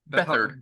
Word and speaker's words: Beathard: Beathard? Bethard.